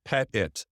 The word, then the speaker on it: Pettitt: it correct for once just with the accent it's like a dog okay Jess pet it like a dog and